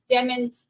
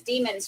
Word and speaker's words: Demons: many times on here they've said it's pronounced diamonds like lemons I get it but